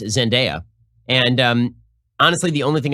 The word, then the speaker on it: Zendaya: Okay, so that stars Tom Holland, and I've been informed that it's pronounced Zendaya.